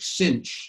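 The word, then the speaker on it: sinh: n h and um americans say that as tange something like that okay so it's the family of functions like cinch and kosh for the hyperbolic sine the hyperbolic cosine so uh we then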